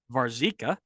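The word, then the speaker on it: Warzycha: Brian White Robert as I've now learned to pronounce it varzica Jeff Cunningham and Brian McBride and they found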